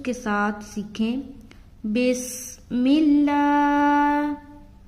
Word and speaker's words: بسم الله: بسم اللہ. بس سیٹی کی آواز آئے گی. بسم اللہ. لا کو کھینچ رہے کیونکہ کھڑا زبر ہے.